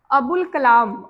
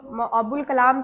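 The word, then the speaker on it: ابوالکلام: जुमला है मौलाना मौलाना अबुल कलाम अबुल कलाम जो हम लोग जैसे में किए थे ना रूल नंबर वन में जिसमें अली लाम की आवाज आई थी अलीिफ साइलेंट था तो अबुल कलाम का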